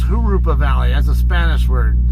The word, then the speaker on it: Jurupa: Not Jurupa Valley, guys. It's Jurupa Valley. That's a Spanish word. The J's don't get pronounced like J's, and they get pronounced like H's in Mexican Spanish dialect.